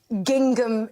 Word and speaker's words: gingham: I'm wearing a full-length gingham dress. OK. I like the way you sounded the second G.